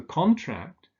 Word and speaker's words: contract: So with a noun, the stress falls on the first syllable, with a verb on the second syllable. And there are lots of similar examples. For instance, he signed the contract, but he contracted the disease.